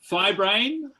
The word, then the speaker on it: fibrane: Fibrane or fibran. 2 pronunciations.